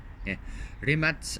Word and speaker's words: Rimac: all right rimac Nevada so the Remake never pronounced rimats New Era is an all-electric hyper car designed